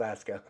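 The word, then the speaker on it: Askja: Okay, Aska volcanic system, Iceland, and yes, that's pronounced Aska.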